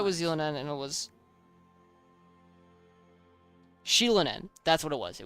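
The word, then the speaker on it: Xilonen: with Z wait no know how was it pronounced it was not z z I thought it was Zen and it was sheilan n that's what it was it was sheilan n um doesn't want to do with her patch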